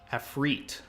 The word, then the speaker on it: Ifrit: Afrit. Okay. He gave me the proper pronunciation. So this is Afrit. Rhymes with feet, they're saying.